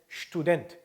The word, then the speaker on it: Student: 그래서 stew가 아니고 student입니다. student.